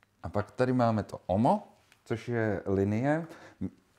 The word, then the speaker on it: Uomo: teď nevím, jak se vyslovuje... Uomo <i>(vyslovujeme, jak se píše)</i>.